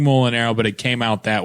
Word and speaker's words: Mulinaro: So, usually it's pronounced Mulinaro, and he was like, Mulinaro.